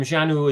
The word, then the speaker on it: Xanue: Janu is spelled Xanue, but pronounced as Janu with a J.